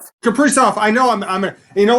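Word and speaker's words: Kaprizov: Uh what's up with Kappers? Well, first of all, his name is pronounced Capri. Capri off.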